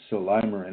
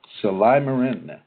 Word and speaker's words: Silymarin: And I always pronounce it Silymarin. It just seems to make so much more sense to me that way. But it's spelled S-I-L-Y-M as in Mary, A-R-I-N as in Nancy. Silymarin.